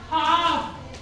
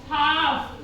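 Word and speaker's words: half: का यूज नहीं किया वैसे ही हाफ एच ए एल एफ यहां पर हम बोलेंगे इसको हाफ ठीक है एल का यूज नहीं किया उसके बाद है वुड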